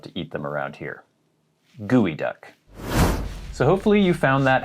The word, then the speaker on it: geoduck: look at this word you might think it's pronounced geoduck sounds like a pokemon or something but it's actually pronounced gooey duck i don't know why but that's how it's